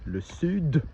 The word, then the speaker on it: sud: The south, le sud, you do pronounce the D, and the west, l'ouest, you do pronounce the T.